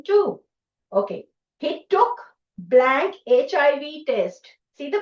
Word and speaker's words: HIV: He took blank HIV test. What? बेटे फिर से देखो, उसकी pronunciation देखो.